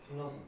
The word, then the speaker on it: 한라산: 한라산. 한라산 있죠? 원래 한라산 한자로 쓰면 뭔지 알아요? 한나산이에요. 한라산. 한나산인데 한나라고 발음하기가 좀 불편하니까 할라피뇨 이런 느낌으로 가는 거죠. 그래서 한라산 부드러운 느낌으로 가잖아요.